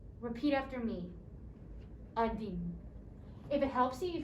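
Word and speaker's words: один: i have the english transliteration or how it's pronounced so let's start with one through five number one is adin repeat after me adin if it helps you you can look at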